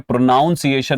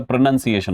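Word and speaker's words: pronunciation: प्रोनंसिएशन प्रोनाउंसिएशन में प्रोनाउंसिएशन नहीं होता। प्रोनंसिएशन होता है।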